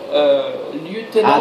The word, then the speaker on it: lieutenant: a indiqué Eric Pitolt, lieutenant. This is a difficult one to pronounce. Lieutenant. Because in England it will be lieutenant or lieutenant, wouldn't it? In French it's lieutenant.